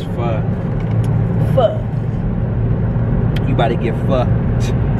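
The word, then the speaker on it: phở: I know how to pronounce it. Nigga, it's pho. Pho. You about to get fucked. Like shit. Pho.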